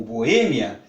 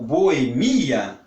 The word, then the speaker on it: Boêmia: prestar muita atenção porque se nós pronunciamos com força no E como foi como Boêmia nós vamos ter que colocar o acento circunflexo muito bem se nós pronunciar mas como Boemia aí já não tem acento É com força no